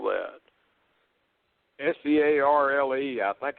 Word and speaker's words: Searle: How does he spell that? S-E-A-R-L-E.